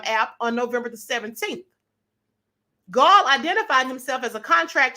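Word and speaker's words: Gaal: Chattanooga State Police arrested 49-year-old Dennis Allen Gall. His name is spelled G-A-A-L, just like ball, B-A-A-L.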